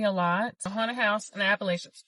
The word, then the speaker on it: Appalachian: Haunted house and Appalachian. Somebody told me I was saying it wrong. It's Appalachin. Let me know if that's right. Appalachin.